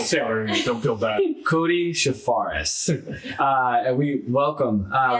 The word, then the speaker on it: Charfauros: Chafaris. It's been my whole life. Uncle Sailor, don't feel bad. Cody Shafares.